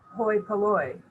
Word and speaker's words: hoi polloi: Hoi polloi.